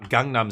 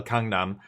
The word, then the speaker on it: Gangnam: Uh you guys know gang gangnam style. Kangnam. Um it's pronounced it's between a K and a G. It's like a hard G.